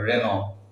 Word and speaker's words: Renault: popular হইছে আর অখমত রেনল মনে হয় রেনল এজন্য নাম রেনল ফ্রেঞ্চ নেইম ফ্রেঞ্চ পড়া শব্দ এটু রেনল না হয়